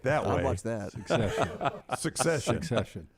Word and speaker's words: Succession: starting the series um the way Dunaway pronounces it it's not about the Civil War it's secession secession succession succession succession he's got a C in it secession is like what